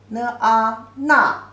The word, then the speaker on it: 那: The pronunciation is 这. Simplified version is just 点横撇捺点横折横折捺. This character means there. 那 na, the false tone.